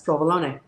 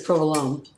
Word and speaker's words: provolone: picked cheddar cheese and he has provolone which he says provolone because he's not italian so it's provolone that's how you say it so yes and you